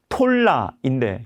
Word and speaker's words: 돌라: 돌라, 정확한 발음은 톨라인데 그 뜻이 벌레입니다.